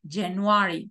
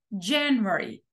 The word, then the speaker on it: January: entonación diferente o sea en inglés no puedo decir januar como en español enero no tengo que decir January January y cuando nosotros acentuamos